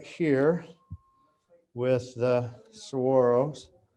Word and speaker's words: saguaro: you know being not from arizona i'd say saguaro but they say if you're if you live there that's how you pronounce it as saguaro yep that's that one i love so much